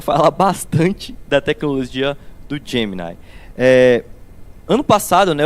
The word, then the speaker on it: Gemini: gente fala de Gemini a pronúncia diz a Google que é Gemini tá eu tô trazendo